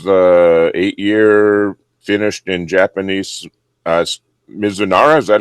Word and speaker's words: Mizunara: This is the 8-year finished in Japanese Mizunara. Is that how you pronounce that?